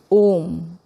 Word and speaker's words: om: So an om has components a u these three component vowels when they come together you get phonetically and so it is